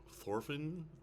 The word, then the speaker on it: Thorfinn: Thorfinn. Thorfinn the Mighty. Thorfinn. They don't pronounce the H, but Thorfinn the Mighty.